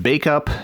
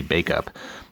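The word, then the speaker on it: Bacup: to look that up this person was nice enough to give me the pronunciation spelled BAC u P bake up and she was nice enough to give me the pronunciation of that so I didn't butcher it even though I almost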